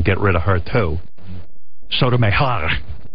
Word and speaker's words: Sotomayor: Sotomayor. How do you say her name, Robin? Meher. Sotomayor. Let's see how Nicole on Sirius Hit says it. It's like, Gotta roll those R's. Costelia. Sotomayor.